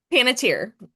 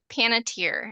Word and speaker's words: Panettiere: Was How do you say her last name? Paniter. Paniter. I always want to say like Pantene like the shampoo paniter.